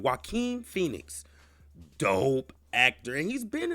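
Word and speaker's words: Joaquin Phoenix: on this man's name his name is pronounced wae Phoenix wae Phoenix let me say that again wae Phoenix dope actor and he's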